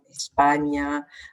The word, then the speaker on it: España: dans des mots comme España, mañana. Donc, on la prononce comme un GN en fait.